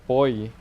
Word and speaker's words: buoy: I also think you pronounce the buoy as buoy. Or boy. Like almost like boy, no? In English, that's how you should say it.